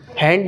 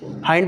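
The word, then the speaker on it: hind: हैंड नहीं, हाइंड बोलेंगे ना।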